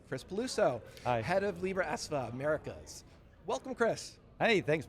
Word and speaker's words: Libraesva: Yeah, you know, there is a lot of history around that and thank you for pronouncing it correctly, Libra Esva.